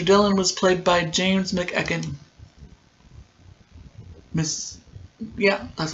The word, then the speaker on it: McEachern: Dillon was played by James McEachern.